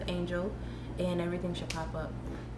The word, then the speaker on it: Angyil: You can look me up under the name of Angyil, which is pronounced Angel, and everything should pop up.